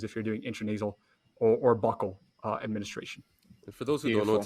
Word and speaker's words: buccal: The smart people in medicine would call it buccal. There you go. Others pronounce it a variety of ways.